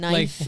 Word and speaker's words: knife: And knife is the K is silent.